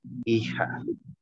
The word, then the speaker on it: hija: En español se dice hija. Hija. How do you say it, Chester? Hija. Jadi, you say the G sound, G letter as an H.